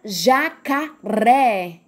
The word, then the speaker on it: jacaré: a última mora lá na palavra jacaré o jacaré é qual é a sílaba mais forte é o pé então jacaré é uma palavra oxítona tá certo balão qual